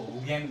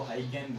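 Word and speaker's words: Huygens: Dutch scientist है, pronunciation इसको हुगेन बोलते हैं, कोई इसको हाइगेन बोलते हैं, HUYGEN।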